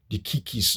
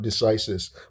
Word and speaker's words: decisis: Oxford I remember somebody a tutor was was emphasizing that it's actually supposed to be pronounced dikis or something dikis st you know stere dikis not decisis but in America we call it stereis and so that's like